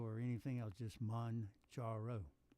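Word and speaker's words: Mounjaro: It's pronounced Manjaro. Not Manjaro or anything else, just Manjaro.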